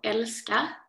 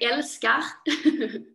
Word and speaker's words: Älskar: You've just released your new album called Älskar on September 2nd. So nice to hear the Swedish pronunciation. I'm from the south part as well, so it's very Älskar.